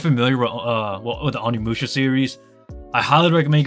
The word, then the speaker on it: Onimusha: The game name is called Onimusha. That's literally Oni and then Musha.